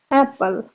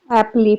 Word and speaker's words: apple: एल ई एप्पल अब जिन लोगों को अंग्रेजी नहीं आती या कम आती है तो वह सम टाइम ऐसे अल्फाज को जिनके आखिर में ई होता है उसको एप्पल की बजाय एपली पढ़ने लगते हैं तो इसको अक्सर अक्सर अंग्रेजी अल्फाज के अंदर य जो है वह साइलेंट होता है ई को नहीं पढ़ा जाता तो इसी तरह में